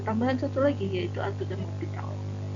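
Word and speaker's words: L'Hôpital: Kita punya tambahan satu lagi, yaitu aturan L'Hopital. Membacanya H dan S-nya tidak ikut dibaca ya.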